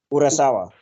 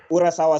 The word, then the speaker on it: Urasawa: Urasawa. Yeah. Urasawa sensei.